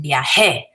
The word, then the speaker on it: viajé: Viajé and viajó, really accenting where the accent is.